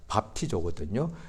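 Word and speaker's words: βαπτίζω: 2000년 전에 고대 헬라어니까 발음이 그냥 밥티조거든요. 그러니까 밥티조라는 것이 영어로 되면 뵙티즘으로 바뀝니다. 발음이 비슷하죠.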